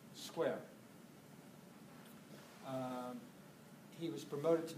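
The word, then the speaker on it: Squier: literary to I just he responded that it sounded like the word square so that settles it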